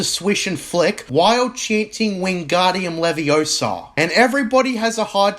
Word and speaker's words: Wingardium Leviosa: that the pronunciation is Wingardium Leviosa, not Wingardium Leviosa, where in the book, the emphasis is on the gar in the spelling.